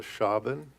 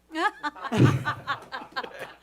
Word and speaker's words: Schaben: Public counsel calls Schaben. Thank you for correcting my pronunciation. It's actually Shaven. Okay. Okay, I guess Schaben.